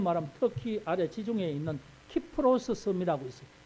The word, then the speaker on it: 키프로스: 특히 아래 지중해 있는 키프로스 섬이라고 있어요 키프로스 그걸 이제 옛날에 옛날 발음으로 굽으로 그러는데 키프로스 섬 근데이 사람이